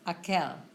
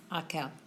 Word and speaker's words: aquel: Aquel. That's how you pronounce it. Aquel.